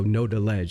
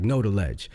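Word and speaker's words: Knodaledge: So, know the ledge like quick like know the ledge, but it's from, you know, the song Know the Ledge.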